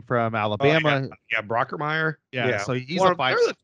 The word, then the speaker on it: Brockermeyer: You got what Brockenheimer or whatever you say his name from Alabama. Yeah, Brockermeyer.